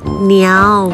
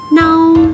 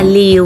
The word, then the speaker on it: 嬲: Tiếng phổ thông đọc là nhào. Từ này được sử dụng như là một phương ngữ, nhiều lúc lại được sử dụng như là một trang sử những từ chửi thục. Trong tiếng Quảng Đông đọc là nâu, có nghĩa là giận dữ, tức giận. Hồ xôi cái này, nâu sĩ này là này một kết nâu ngọa hả? Còn có một âm khác đọc là liều, có nghĩa là chọc ghẹo, sanh sự.